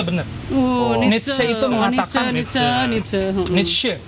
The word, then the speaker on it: Nietzsche: Oh, Nietzsche itu mengatakan Nietzsche, bacanya tuh Nietzsche.